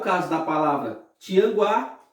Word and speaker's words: Tianguá: do que como é o caso da palavra tianguá e a palavra quadro observe que na palavra